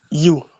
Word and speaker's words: ewe: I say white U. That's the pronunciation of EWE U.